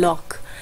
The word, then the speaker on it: Locke: ठीक है, स्पेल इसको किया जाता है एज लॉक की, LOCKE, बट इट is pronounce as John लॉक।